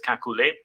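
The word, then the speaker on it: Kekulé: kakul sometimes pronounced pronounce its name is pronounced as August kakule or kakul uh up until he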